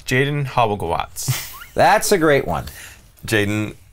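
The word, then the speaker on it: Halbgewachs: Hobblegawatz. Oh, with a V like sound. Hobblegawatz. Yeah. Hobblegawatz. It's a slightly altered pronunciation of the German, which would be closer to what you're saying.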